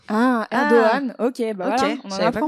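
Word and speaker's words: Erdoğan: Ahogan ça nous ser un chapeau à l'envers qui se prononce pas. Ah Erdogan.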